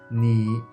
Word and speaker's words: 你: like a native speaker, when Chinese people pronounce the third tone, they usually keep it always low.